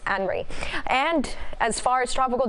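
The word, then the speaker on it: Henri: You'll see what I'm talking about, but it's actually pronounced Henry.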